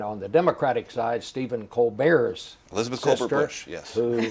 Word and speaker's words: Colbert: Mark Sanford and on the Democratic side Steven Co Bear's Elizabeth yes who pronounces it Colbert yes so we'll see how that comes it